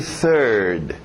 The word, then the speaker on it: third: TH de sapo, novamente, third.